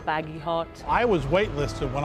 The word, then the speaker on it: Bagehot: journalist Extreme Makeover night badget Edition the badget were a little bit of a strange breed they have a funny name people can't pronounce it I think it's baggy hot I was weight listed